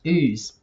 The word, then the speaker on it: Ouse: house it's like no it's actually pronounced ooze it is actually pronounced